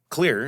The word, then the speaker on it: Xlear: Yeah, but so the question of how I ended up starting this company is clear, and it's spelled Xlear.